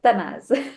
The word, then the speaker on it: Tanaz: I met our guest Tanaz and am I pronouncing your name correctly? Uh Tanaz. Tanaz.